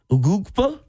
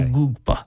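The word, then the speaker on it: Egbuka: I think that's how Try you that pronounce his again. name. Ugugba? There you go. Oh, you got All I right. forgot the There's K. a K. You forgot the K. Ugugba.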